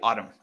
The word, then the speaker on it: autumn: say autumn we say autumn and that n at the end is silent receipt receipt receipt so